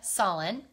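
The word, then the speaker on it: Sahlin: This one was designed by Krista Solin. I think that's how you pronounce her last name, S-A-H-L-I-N.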